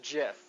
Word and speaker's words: GIF: pretty simple right and it's pronounced gift without the G yeah okay and the product and and it's pronounced jiff okay yeah so here